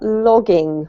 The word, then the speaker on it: logging: This is not lodging, but logging.